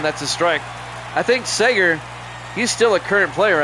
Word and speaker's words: Seager: a strike I think Seager he's still a current player I believe here's the 01 up high one and one Seager I'm sorry like Bob Seager thank you Evil Dead